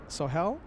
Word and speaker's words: Sohel: So, Sohel, okay, and I'm pronouncing it correctly according to Sohel.